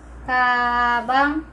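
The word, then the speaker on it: 가방: So, pag binasa ito is, kabang, first syllable, of course, kabang, kabang, what is kabang in English?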